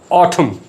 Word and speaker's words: autumn: ऐसे अल्फाज जिनके आखिर पर MN आ रहा हो तो N साइलेंट हो जाता है, like autumn, column, hymn, HYMN, condemn, solemn, SOLEMN.